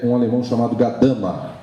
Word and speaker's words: Gadamer: O jurista conhece esse assunto, mas não conhece praticamente este autor, que é um alemão chamado Gadamer. Gadamer é o jeito pelo qual nós pronunciamos o nome dele no Brasil.